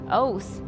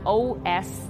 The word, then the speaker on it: Oath: And don't get her name wrong, it's pronounced Oath, it's not O-S.